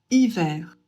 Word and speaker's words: hiver: Ici, on ne prononce pas le H.